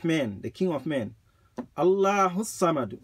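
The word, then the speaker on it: الله الصمد: Allahu Samad. If you join them, the alif is silent. Allahu Samad. But if you separate them, Allahu As-Samad. Allahu, Allah, As-Samad.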